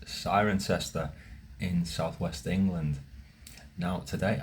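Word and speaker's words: Cirencester: in this place 10 points if you can pronounce it it's siren sester in Southwest England now today I want to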